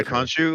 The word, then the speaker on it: Khonshu: how they're going to go about was the Khonshu. Is that how you pronounce his name? Yeah. Yeah, Khonshu.